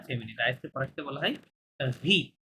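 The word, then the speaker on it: riz: রাইসকে ফরাসিতে বলা হয় ভি, Z silent, হ্যাঁ, জাস্ট বলে ভি মানে রাইস।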